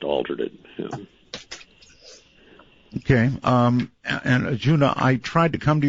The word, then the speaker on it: Arjuna: it's a-g-u-n-a-j-u-n-a right yeah it's arjuna just like the classic indian myth i thought that might have been pronounced with an h sorry that's all right